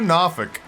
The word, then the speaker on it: Norfolk: Woo, Nawfic. It doesn't make sense to me at all that they adopted that pronunciation of Norfolk.